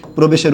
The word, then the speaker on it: প্রবেশ: ঠিক একই রকমভাবে প্রবেশের উচ্চারণটা হবে পয় রফলা ওকার, ব একার, তালব্যস্য হসন্ত।